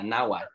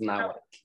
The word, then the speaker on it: Nahuatl: Yeah, Nahuatl. It's pronounced Nahuatl.